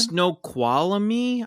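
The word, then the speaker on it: Snoqualmie: city was in Washington snow quami I believe is how you say snow quamy wow s n o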